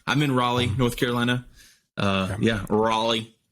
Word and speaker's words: Raleigh: Raleigh. However you want to say it. I like to check on pronunciations before I'm always just scared I'm going to say something wrong. I'm going to get on and say like Riley or something and just look like an idiot.